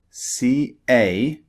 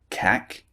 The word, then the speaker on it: cake: For example, cake, C-A-K-E, is not pronounced cack, it's pronounced cake.